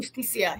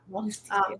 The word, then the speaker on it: Justicia: I'm guessing is how you pronounce it. Justicia, yeah. Yeah. Justicia.